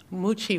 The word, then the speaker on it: Mucci: Mucci and I'm the owner of hoochie world moochi world um it's really hard name to pronounce um we've been here almost eight years